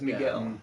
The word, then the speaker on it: Miguel: Yes, Miguel.